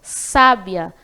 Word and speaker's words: sábia: a sabiá bastante sabe então sábia Nesse caso tem a sílaba tônica bastante Clara aí porque tem um acento agudo na primeira sílabas A então sábia a sílaba tônica é a primeira sílaba Sá já sabe a Olha